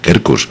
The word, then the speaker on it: Quercus: este hotel, el Hotel Kerkus, que se escribe con Q de queso, la primera, y la otra con C de casa, Kerkus.